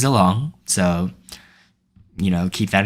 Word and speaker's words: Zilong: I keep pronouncing it Xylong because that's how I've pronounced it for so long, but the official pronunciation is Zilong, so, you know, keep that in mind.